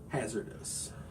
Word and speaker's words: HAZRDOS: It is spelled HAZRDOS, Hazardous.